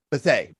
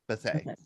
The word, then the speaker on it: Bethea: And but a gathering of men, of course, is your father-in-law, and his last name is pronounced Bethea. Bethea.